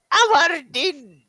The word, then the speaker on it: Avardin: And he goes, I am Avardin. The V is silent.